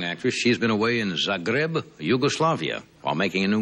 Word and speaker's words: Zagreb: recently returned from did I pronounce it right said grab yes Zagreb Zagreb Yugoslavia Yugoslavia have you